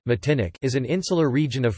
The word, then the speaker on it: Martinique: Martinique, French pronunciation, Matinic, is an insular region of France located in